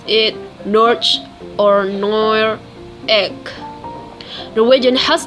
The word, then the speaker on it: Norge: word Norwegian is Norway but the local language pronounces it Norge or nor egg Norwegian has two different languages